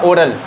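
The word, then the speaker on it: oral: ये होता है ऑरल, एक होता है ओरल, याद रखना। ओरल ऑरल फ़र्क है थोड़ों में, ठीक है ना।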